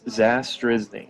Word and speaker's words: Zastryzny: It's Zastryzny.